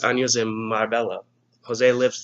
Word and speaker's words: Marbella: Jose blinked 3 años en Marbella. Jose lived 3 years in Marbella. Marbella. In English, we say Marbella.